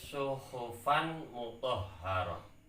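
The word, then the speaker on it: صُحُفًا مُطَهَّرَةً: Tertulis suhufan mutahharah. Sehubungan ada tanwin di sini yang bertemu dengan mim, sedangkan mim itu salah satu huruf idgham bi gunnah, maka harus diidghamkan dan dibaca dengan dengung. Cara bacanya suhufam mutahharah. Seperti itu cara bacanya.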